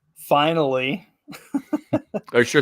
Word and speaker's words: Finale: a little song called finally are you sure it's not the finale well it it's actually spelled like finale but there's the the line over the E so it's the long e it's finally um so little little